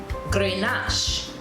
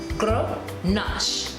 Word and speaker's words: Grenache: Now, in most English-speaking persons or countries, we may say Grenache, Grenache, but the correct pronunciation is G-R-U-H Nash, N-A-A-S-H. Grenache, Grenache, Grenache.